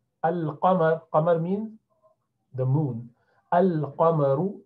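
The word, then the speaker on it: القمر: So for qamar, moon, you have to pronounce lam, al-qamar.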